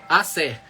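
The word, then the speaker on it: Aser: E no verso 17 teve Asser, ou Azé, deve ser Asser que pronuncia, Asser.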